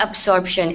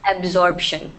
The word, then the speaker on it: absorption: o r b yeah it's not absorption it's absorption so the B sound is not as strong but there is a b sound so you absorb food